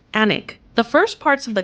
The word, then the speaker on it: Alnwick: The castle's name is Anglo-Saxon for the farm or trading place on the Aln River and is pronounced Alnwick.